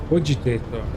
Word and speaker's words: cogitator: Okay, so it's cogitator. That's how you pronounce that.